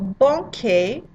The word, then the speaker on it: banquet: The T in banquet and in s'avancer. Totally silent because you're careful.